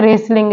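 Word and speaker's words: wrestling: वो साइलेंट है जैसे वर्ड है रेसलिंग रेसलिंग में जो डब्लू है वो साइलेंट है नेक्स्ट वर्ड है रंग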